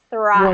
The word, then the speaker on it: thrive: The th is a void or voiceless. This one's Void. voiceless. Thrive. Voiceless.